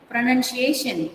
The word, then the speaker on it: pronunciation: Pronunciation. Pronunciation. So you have to go high when you stress on that particular third syllable.